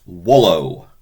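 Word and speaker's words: volo: we have I want wallow you want whis remembering we pronouncing the v as a w if we if we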